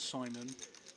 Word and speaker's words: Shimon: He said he likes to be called Simon, but it's spelt Shimon, and I respect culture.